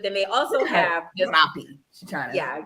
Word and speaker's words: Rappi: So they have Uber, they have Rappi, they have Didi, but then they also have this Rappi. Yeah, you gotta roll your R.